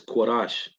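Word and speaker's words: Kodesh: The Hebrew word is Kodash, not Kodash. It's not Kodash. It's Kodash. You got to start saying it right. I'm just throwing it out there. It's Kodash, not Kodash. It doesn't sound how it's spelled.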